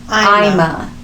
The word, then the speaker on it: Ima: Her name was actually Ima, but I think with his accent or like how he pronounced it or what he thought it was, he said Alma, but it's Ima Jean Sanders, and she was 13 years old.